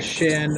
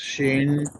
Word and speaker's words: Shen: Yeah, they're Shen, or if you pronounce your Soyani correctly, it's Shane. You gotta make it more like a long A than an E.